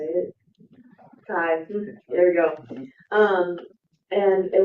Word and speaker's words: Chi: Kai, there you go.